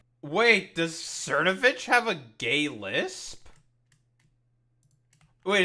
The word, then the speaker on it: Cernovich: Cernovage. Oh, it's Cernovich. Okay. Mike, however you pronounce that.